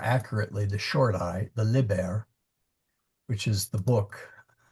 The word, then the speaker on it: liber: a long eye and then liber which is a short eye.